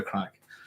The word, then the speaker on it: craic: all Irish people say you enjoy the crack, the chat, So just in case you're wondering. It's spelled Craic, by the way.